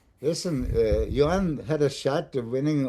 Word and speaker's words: Joan: You know, I want to know how do you say your name really in Spain? How they call you? Yan.